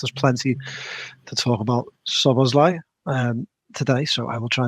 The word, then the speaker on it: Szoboszlai: It's Szoboszlai, not Szoboszlai, I think. Perhaps you should all try to respect his pronunciation. We will try and do that. Ernest, there's plenty to talk about Szoboszlai today, so I will try and do that.